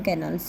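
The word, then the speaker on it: canal: तो वहाँ पे बोलते हैं see that's a Buckingham कैनल. सेट जय ने बोला कि बकिंगम कैनल है. ठीक है, कनाल बोलते हैं इसकी जो प्रोनाउंसिएशन है एग्जैक्ट.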